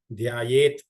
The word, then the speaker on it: ಧ್ಯಾಯೇತ್: ಪ್ರಸನ್ನವದನಂ ಧ್ಯಾಯೇತ್ ಧ್ಯಾ ಧಾ ಒಂದು ಮಹಾಪ್ರಾಣ ಇದೆ. ಧ್ಯಾಯೇತ್ ಅಂತ ಹೇಳ್ಬೇಕು, ಅರ್ಧತ ಮಾತ್ರ ಉಚ್ಚಾರಣೆ ಆಗ್ಬೇಕು. ಸರ್ವ ವಿಘ್ನೋಪ ಆ ಘಾನು ಕೂಡ ವಿಘ್ನ ಅದು ಕೂಡ ಮಹಾಪ್ರಾಣದಲ್ಲಿದೆ.